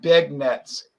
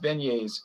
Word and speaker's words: beignets: up yeah it looks like it looks like big nets the the word spells out beg nets b e but it it's pronounced beignets and i grew up eating beignets and then